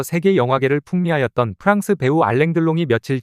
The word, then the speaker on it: Alain Delon: 경유하여 우리나라에 수입되었다 그래서 우리들은 알랭들롱 일본식 발음인 아랑드롱 불렀다 그 시대 알랭 들롱이